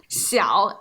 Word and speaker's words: 小: Next one, 小 and 少。 Yeah, so remember the pronunciation difficulties here, or the differences between xi and sh and then ao.